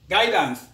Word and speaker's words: guidance: to the letter u u is silent when it comes after g and before it vowel examples yes which means to think or to reckon guidance which means to give